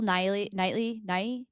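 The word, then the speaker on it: Keira Knightley: And Bill Knightley.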